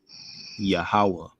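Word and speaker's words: יהוה: just the pure letters so this would be pronounced obviously yahawa right and of course remember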